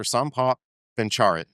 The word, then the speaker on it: Sompop Bencharit: S. Paul Bencharit and I believe I said that correctly because I had to ask him beforehand.